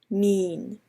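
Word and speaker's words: mein: So to properly say wonton noodles in Cantonese, you would say won ton mean, not mian but mean, and so that's the proper way of saying it, along with, as shown here, the Chinese characters and the Cantonese in romanization pronunciation.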